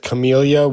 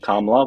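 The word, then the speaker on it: Kamala: Well, I don't support Biden and Well, I mean, if Chameleia would have been president, Kamla, we're going to say her name correctly, please.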